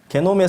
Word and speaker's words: 게놈: 게놈이라고 하는 거예요. 게놈, 지놈. 영어로는 지놈이라고 합니다.